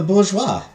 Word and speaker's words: bourgeois: hate never pronounced Bourgeois never pronounce bouris as burgo again it's the Bourgeois the bourgeois I